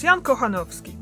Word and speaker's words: Jan Kochanowski: or maybe just get the way how you pronounce that surname. Jan. It's Jan Kochanowski, by the way.